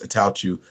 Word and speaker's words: Attaochu: It's Attaochu, like someone sneezing.